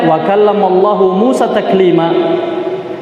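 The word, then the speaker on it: وَكَلَّمَ اللَّهُ مُوسَىٰ تَكْلِيمًا: Karena sebagian orang ada yang membacanya wa kallamallaha Musa takliman, seakan-akan fa'ilnya adalah, pelakunya adalah Musa.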